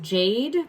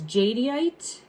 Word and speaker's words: jadeite: Jade, but it's jadeite.